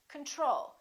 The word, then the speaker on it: control: we say control or do we say control we say control second syllable is stressed the first o is reduced repeat after me control